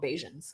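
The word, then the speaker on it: Bajans: call them okay sorry I said bar and then I realized I was saying it wrong so like Rihanna's Beijing okay oh yeah she's from Barbados but they're called bayesians okay great yeah yeah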